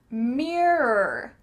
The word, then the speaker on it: mirror: Here, we need to have two syllables, mirr-or. It kind of sounds like M-I-R-E-R, mirror, mirror, mirror.